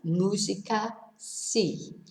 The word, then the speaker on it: música: Whereas musica needs an accent on the U, because otherwise it'd be musica. It'd be slightly different. Okay, so botella no, música sí.